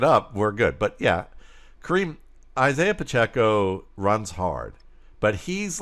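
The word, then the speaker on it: Isiah: I like Isaac Pacheco. I've always been an Isaac Pacheco say his name guy. Right then. Did I say Isaac? You did, didn't I? Isaiah. Thank you.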